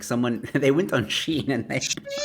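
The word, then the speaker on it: Shein: know what she or what I didn't even pronounce it is that yeah it's a Sheen are you sure yeah okay so for you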